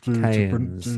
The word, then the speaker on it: cairns: Cairns. Cairns, Cairns, is that it? Cairns, Cain-A-N-S, Very complicated word Cairns, yeah. to try to pronounce.